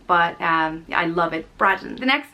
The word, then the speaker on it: Braddon: Next up is Braddon, and it means broad hillside, and it's pronounced Braddon, and it's spelled B-R-A-D-D-O-N.